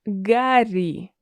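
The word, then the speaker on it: Гарри: Yes, we do pronounce Harry as Gary.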